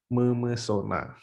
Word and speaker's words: memesona: Selanjutnya menasal ketemu huruf P, kata dasar awal P bunyi up, dia luruh juga hurufnya, hilang. Jadi bacanya misalnya ini menasal ditambah pesona menjadi memesona.